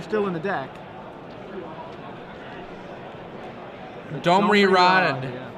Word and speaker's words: Rade: Domri Rod. Yeah. Or if you prefer the incorrect pronunciation according to Wizards of the Coast, it is not correct to say Domri Rade.